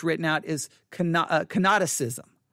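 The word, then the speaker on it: kenoticism: or canosis theory sometimes it's written out is canoticism cannoticism that's spelled k-e-n o-t-i-c-i-s-m cannoticism canoticism all right or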